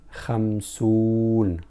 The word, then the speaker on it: خمسون: But when we add waw, which is one of huruf al-illah, the letters of illah, so we spell it khamsoon, not khamsu.